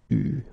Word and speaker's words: eu: Okay, you write it like that, but you pronounce it eu.